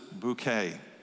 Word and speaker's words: Bucket: the social ladder uh her last name is actually spelled bucket but she pronounces it bouquet okay I like that